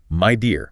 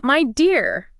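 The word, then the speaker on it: Midea: right media media and it's pronounced my dear yeah my dear and they're they're everywhere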